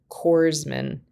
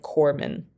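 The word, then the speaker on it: corpsman: being on sale that I had said cororsman instead of corman.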